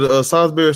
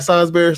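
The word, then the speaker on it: Salisbury: The steak is salsberry.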